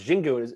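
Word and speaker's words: Xingu: And so they had one from Brazil, and it was Jingu. It's spelled with an X, and I was just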